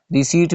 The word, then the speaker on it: receipt: receipt میں p silent ہے. receipt اس میں p کو نہیں پروناؤنس کیا جاتا.